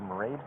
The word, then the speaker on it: Marade: Mayred, like Marade. Said Marade, like parade.